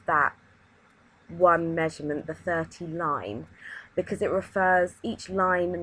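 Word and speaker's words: ligne: got 19 mm and something called line it's pronounced line it's a French word and it actually is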